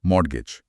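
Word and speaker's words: mortgage: number 1129 मॉडगेज noun इसमें T silent है ना हां बिल्कुल मॉडगेज अर्थ गिरवी हम डेफिनेशन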